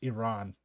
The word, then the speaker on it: Iran: It's Iran. I keep pronouncing it like a Yankee.